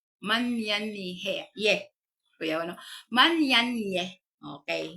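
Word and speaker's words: menyanyi: Okay manyan he okay ang pag spelling ano is m e n y a n y i no kung ang pagpronounce an is ang men is man men yan ye manyan ye Kuya ano manyan yeeh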